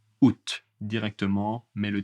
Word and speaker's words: août: Le A n'est pas prononcé août directement, mais le T est prononcé.